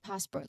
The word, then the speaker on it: passport: So passport there's two distinct sounds. The first is pass. The emphasis is on again the emphasis is on first syllable of of course passport. One more time passport. All right there's a clear t sound at the end.